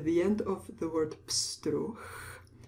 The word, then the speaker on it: pstruh: We pronounce the CH CH sound at the end of the word pstruh. H is voiced and it becomes a voiceless sound at the end of a word. Pstruh.